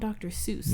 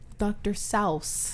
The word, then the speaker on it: Seuss: do you know that his name is not dr. Seuss what is it dr. selfs what doctor you try to be funny no dr. salves who says that that's how it's his name